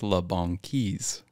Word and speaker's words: La Banquise: So last podcast, I said it's either La Banquise or La Banquise, but it's La Banquise.